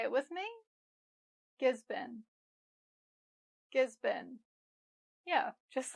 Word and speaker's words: Gisborne: I sometimes hear people say Gisborne, but this is actually just Gisborne. Not born, but been. Say it with me. Gisborne.